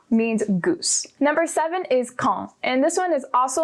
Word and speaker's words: quand: or what time and you pronounce it as kong not kwang which is what i was doing and sometimes quand which is really bad